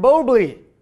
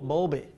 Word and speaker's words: Bowlby: He's working with Ben Bobley. No, that's it. It's right. How do you say it? Bowlby? Bowlby. There you go.